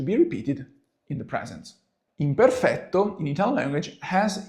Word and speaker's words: imperfetto: into the very lesson why imperfecto or better the Italian pronunciation is imperfecto imperfetto comes from Latin itself